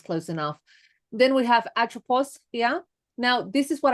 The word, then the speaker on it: Atropos: Then we have atropos here.